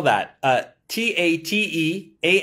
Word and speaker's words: Tate: yeah um how do you spell that uh t a t e a n d y o k o dot com so it's spelt tate t-a-t-e but it's pronounced tate because it's a